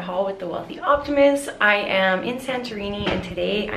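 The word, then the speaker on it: Oia: I am in Santorini, and today I am going on a boat tour in a classic Greek style boat.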